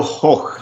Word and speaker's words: Hoch: I thought that had that featured Nikolai Hotch. Hotch, is that how you say his name? Nico Hoch. Yes, there you go.